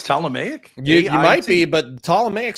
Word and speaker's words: Ptolemaic: that when I Googled, because I said Ptolemaic, Ptolemic, everything I'm seeing on Google is Ptolemaic, and so I will accept your pronunciation, Ptolemaic.